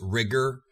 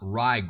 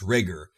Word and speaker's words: Rigor: right it's a pronounced rigor not rygg or I checked with Malik himself because almost everybody pronounces a tri Gor but it is pronounced rigor he rhymes with trigger and another very bad